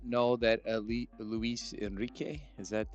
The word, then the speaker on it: Luis Enrique: I did not know that Luis Enrique, is that how you Yes, pronounce sir. it? Yep. Did I do it right? Yes, sir. You did. You had the inflection and the R and everything.